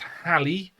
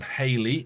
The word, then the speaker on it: Halley: it gets really complicated hallie sometimes pronounced haley i'm going to call the physicist halle from from now on rather than haley although i believe both pronunciations are acceptable um is credited with